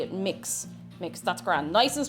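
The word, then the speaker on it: Mx: Mix.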